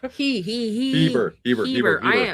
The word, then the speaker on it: Heber: Oh, Heber. I apologize. I apologize because there's somebody that got married in that church that she told me I say it wrong all the time.